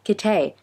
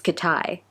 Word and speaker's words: Kitay: So I discovered that Kitay is not actually pronounced Kitay, it's Kitai. It's so weird. His name is actually Kitai.